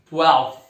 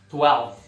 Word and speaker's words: twelfth: Décimo segundo, twelfth. Twelfth. Novamente é difícil aqui o F com TH, né?